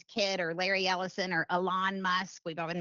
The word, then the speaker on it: Elon: So when we're talking now about these individuals, whether it's Larry Ellison's kid or Larry Ellison or Elon Musk, we've all been mispronouncing his name, by the way, it's Elon.